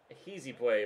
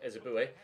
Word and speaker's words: Ehizibue: Ehizibue, apparently, is how Derek Ray pronounced it. I'm just still to call him Ezebue.